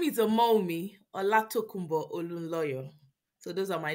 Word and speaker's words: Olunloyo: So my name is Omowunmi Olatokunbo Olunloyo.